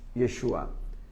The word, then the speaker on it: Yeshua: se a yeshua y la J se pronuncia como una y o una y yeshua